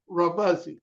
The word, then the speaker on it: Remuzzi: am here with Matt robuzzi and Matt did I get it right you got it right it rhymes with fuzzy that's what I tell